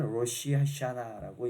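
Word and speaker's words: ראש השנה: 자, 이거로 이스라엘 말로, 히브리 말로는 로시 하샤나라고 읽습니다.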